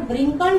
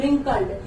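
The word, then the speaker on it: wrinkled: व्रिंकल्ड, मैंने बताया था इसको W को प्रोनाउंस नहीं किया जाता है, व्रिंकल्ड नहीं बोला जाता है, दिस इज रिंकल्ड। रिंकल होता है झुर्री का, झुर्रियों वाला।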